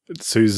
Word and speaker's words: SUSE: And how you're supposed to say openSUSE. SUSE. Oh, There's no I in it.